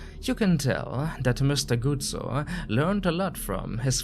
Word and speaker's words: Guzzo: This time I pronounced his last name correctly. Not Guzzo, but instead Guzzo.